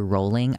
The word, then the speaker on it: Rowling: as JK Rowling that's it's actually it's JK rolling I know how to